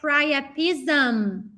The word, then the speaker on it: priapism: Stuttering priapism. Porque esse sintoma, what is that? You guys know, it's very similar in Portuguese. Stuttering priapism. Percebe que aqui, quando eu falo priapism, eu fecho a boca no final.